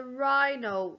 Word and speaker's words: rhino: That was a rhino. Rhino. You have to be very careful. Rhine has the silent H after the R.